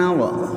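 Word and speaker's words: hour: for example I verb है आपके पास teach I teach you English for half an आवर for half an आ इसको हा नहीं बोलेंगे आप आ बोलेंगे आ ए साइलेंट है इसमें एक और लिख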